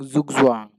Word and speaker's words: Zugzwang: Here, as you can see, that it is fun to say with the pronunciation being Zugzwang. Chess is being an international game and has adopted languages from other countries. Zugzwang is a German word which translates to compulsion to move, just as I said.